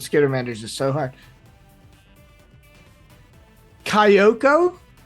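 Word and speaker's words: Kayoko: managers is so hard Kyoko k-a-y-o-k-o Kyoko that's right uh who is a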